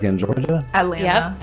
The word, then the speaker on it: Atlanta: Atlanta. Yep, Atlanta. See, the way it's spelled is how all Atlanta people say it. We don't say Atlanta, it's Atlanta. Oh, that's Right.